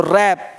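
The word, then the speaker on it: wrap: देख पा रहे है डब्लू साइलेंट डब्लू गांव दबाई तो रैप आंसर अब यहां पर ऐप पढेंगे उबर ऐप नहीं देख पा रहे हैं रॉक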